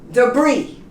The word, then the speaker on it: debris: Illinois's you say Illinois debris you know pronounce yes and this is one